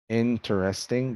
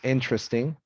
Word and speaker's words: interesting: talk about uh vowels native speakers drop syllables in some common words the dropping of vowels for example here interesting becomes interesting separate becomes separate favorite becomes favorite federal federal miserable miserable